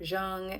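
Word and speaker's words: Jung: of Carl Young um, or Jeang as some people like to pronounce it, but I pronounce it called Yang.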